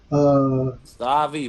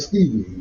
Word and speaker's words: Stavi: Stavi, my brother, salute. Did I say his name wrong? Who? You said, what's his name, Stavi? Yeah, Stavi. I said Stevie.